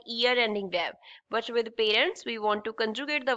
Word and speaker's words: parents: This is called parents. Ts will be silent.